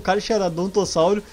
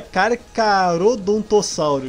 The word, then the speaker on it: Carcharodontosaurus: é difícil pronunciar porque eu fiquei a vida inteira pronunciando cara que era doutor saulo carcharodontosaurus e agora me falar nos comentários que é que se pronuncia carcarodontossauros então desculpa se eu